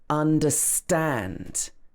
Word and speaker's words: understand: In some words, the word is stressed at the end. For example, understand. Understand. I don't understand.